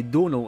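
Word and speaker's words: Domhnall: that is the way Donal is pronounced it's like tonal but with a d sadly small set would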